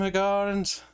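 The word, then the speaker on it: Hiigarans: They pronounce them Higarans.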